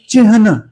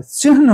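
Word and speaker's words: चिह्न: फिर नौ आता है, वो होता है चिन्ह, चिन्ह नहीं होता है, चिन्ह होता है। तो हम क्योंकि बचपन से उस उच्चारण को ऐसे ही सुनते चले आ रहे हैं, तो हम उसे चिन्ह चिन्ह कहते हैं, लेकिन होता है चिन्ह चिन्ह, ह पहले नौ बाद में।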